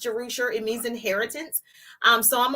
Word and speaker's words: Jerusher: So it's the Aberstan, Jerusher is pronounced Jerusher.